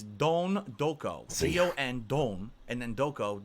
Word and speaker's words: Don Doko: It's Don Doko. Don That's how they Doko. pronounce it in the game, so I'm pronouncing it correctly. Not Don't Doko.